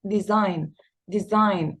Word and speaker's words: design: design الجي silent ما بنطقهاش نهائيا.